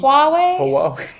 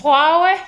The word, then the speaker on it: Huawei: this is also hard I us mess up this with the brand of phone we have from China Hawaii Huawei H Huawei you mix it up with Huawei yeah Huawei and this is Hawaii Hawaii Hawaii Hawaii Hawaii